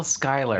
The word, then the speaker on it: Schuyler: But there's a U in there. And a CH. And a CH. It's still Skylar. It's still Skylar?